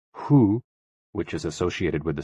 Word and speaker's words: hoo: HOO, pronounced like hu, which is associated with the spleen, and XI, pronounced like shi, which connects the whole body.